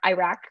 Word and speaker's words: Iraq: Our parents are from Iraq, or Iraq is how I pronounce it, which is horrible, I know, but I learned the word from white people.